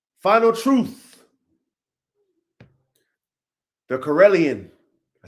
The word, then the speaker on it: Karelian: The Corellian. I said it right. Ready? Yeah. Corellion.